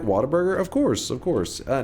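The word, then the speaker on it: Whataburger: It's they it's pretty they say water burger is how people from from here say it like a burger chain in the south but it's actually spelled what a burger but everybody calls it water burger.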